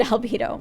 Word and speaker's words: albedo: time is up but it sounds like the word libido it just sounds sexual anyway like the word albedo but that word also